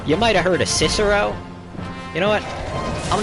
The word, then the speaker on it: Cicero: him yeah his nose his name is really pronounced kikero because uh uh eyes are almost always pronounced like e's and c's are pronounced with a hard consonant so that's uh that's kikaro but other than those